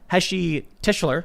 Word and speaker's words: Heshy Tischler: So joining us today, we've got Heshy Tischler. Yes.